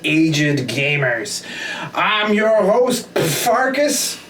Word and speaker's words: Pfarcus: gamers i'm your host farkas the p is supposed to be silent and i'm your other